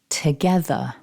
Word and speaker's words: together: me nice and loud together and before we finish my top tip for this word is don't pronounce that first vowel too strongly when we look at